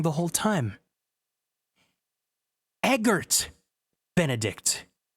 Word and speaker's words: Eggert: wrong the whole time Eggert Benedict I've been reading it as Eggbert he's not some Homestuck